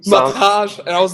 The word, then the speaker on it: Matej: First of all, do you pronounce your name Matej? Yeah, that's perfect pronunciation. I just rewatched I just watched the podcast with Eddie, and he said something like Mateja or something. Mataj, man. Mataj, and I was like,